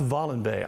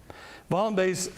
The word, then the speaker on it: Wallenberg: It's Swedish, not a German pronunciation. I'm going to mispronounce it. It looks like Wallenberg, but it's pronounced Wallenberg, I believe.